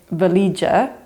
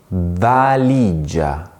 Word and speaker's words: valigia: So, for example, to say the word suitcase, Italians don't say valigia. Instead, they say valigia, valigia. They really pronounce carefully every vowel.